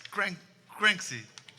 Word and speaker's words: Cranksy: Yeah, and he was the winner of Inércia drum competition 3 years ago, and you still pronounce the name wrong. It's Cranksy.